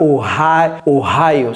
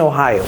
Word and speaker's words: Ohio: l'état de Oha oh c'est pas oh oho c'est oh Ohio ça c'est deton n'est-ce